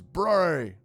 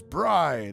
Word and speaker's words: Bri: My name is Bri. Wait, Bri. My name is Bri. That's B R I pronounced like Burr the cold followed by your I bri.